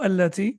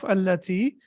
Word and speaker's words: التي: That the hamza of alladhi and the hamza of allati is hamzatul wasl. Is what? Hamzatul wasl. Okay. So whenever you connect it, you don't pronounce it.